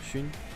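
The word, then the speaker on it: Xun: 接下来让我们欢迎北京 JDG Intel Esports 上单阿乐打野勋中单 Scott 下路 Pates 辅助 Missing So Shun is an interesting because it's not Shun and it's not Shun. It's like halfway in between. Shun.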